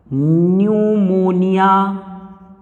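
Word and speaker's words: pneumonia: पी न्यूमोनिया में भी P silent होगा। न्यूमोनिया, pleuro न्यूमोनिया like, L माने लाइक, O माने ऑर्गेनिज्म।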